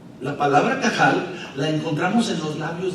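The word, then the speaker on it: קהל: La palabra que Jesús utilizó fue una palabra hebrea que se escribe con Q y que se pronuncia cajal. La palabra cajal la encontramos en los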